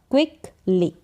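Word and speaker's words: quickly: फिर है क्व, क्यू यू साथ में आएगा तो क्व पढ़ा जाएगा, सी के का उच्चारण क करके हो रहा है। क्विकली, क्या पढ़ा जाएगा, क्विकली।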